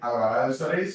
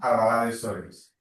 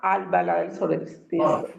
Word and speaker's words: Albalat dels Sorells: Sí, pero a eh recuerda que no es en Albaladel Soris, sino a Albalá del Solis. Se pronuncia a Albala del Solis.